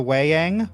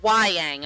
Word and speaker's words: Wai-Yang: So most of all you know about the Wei-Yang or Wai-Yang, however you want to pronounce it, it doesn't say how to pronounce it. Please, for the sake of my imagination, Wai-Yang, okay?